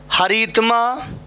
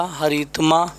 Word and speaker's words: हरितिमा: Yes, next देखो, हरितमा, हरितमा हमारा शब्द देखो, हाँ आपने हरी और यहाँ तमा बोला, हरितमा रॉन्ग होगा, है ना। यस, हरितिमा होता है, ठीक है।